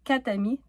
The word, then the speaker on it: quatre amis: S'il y a quatre amis, on prononce pas le R, donc quat' amis, "tami".